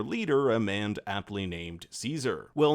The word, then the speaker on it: Caesar: We'll see someone wearing a golden laurel, which might be their leader, a man aptly named Caesar. Well, in the game, it's actually pronounced Kaiser.